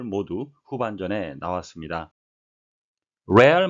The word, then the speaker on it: Real: 레알 마드리드, 리얼이 아니고요. 로얄이라는 의미를 갖는 스페인어가 되겠습니다.